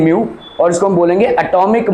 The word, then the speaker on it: mu: This is basically म्यू, ठीक है, इसका प्रोनाउंसिएशन है म्यू और इसको हम बोलेंगे एटॉमिक मास यूनिट।